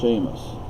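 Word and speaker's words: Séamus: H, and it's like my name does not have an H in it, but it's pronounced Seamus.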